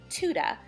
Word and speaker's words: Tudor: from Oklahoma down here everybody says Tudor we're kind of country but yes it's is Tuda and a Pisces apparently